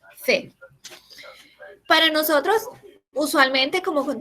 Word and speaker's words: fait: a pesar de que la pronunciación sea la misma, fe.